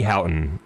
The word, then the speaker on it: Houghton: I say Houghton, Houghton. Houghton. Like Ray Houghton, who is a famous footballer for the Republic of Ireland.